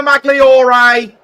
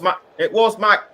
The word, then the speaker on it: Magloire: It was Tyler Magliore. Or should that be it? Or should that be Magloire? Or should that be Maloire? I apologise if I've been pronouncing his name wrong. It was Magloire.